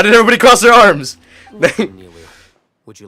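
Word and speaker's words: Nilou: Nilo? Oh, it's Nilu.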